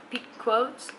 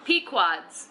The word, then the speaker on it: Pequod's: So, we got an Italian beef from How do you say it, Brian? P Quod's? Pequod. Pequod's, cuz I heard from my brother it's the best place to get it.